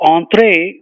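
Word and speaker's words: entrée: main course the related word is enter so Entre that's the French pronunciation and tree is uh entry would mean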